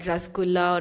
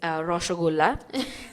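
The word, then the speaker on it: roshogolla: I'm sorry, let me correct myself. It's roshagulla. Yes. I don't want anyone to come come at me and say like I pronounce it wrong.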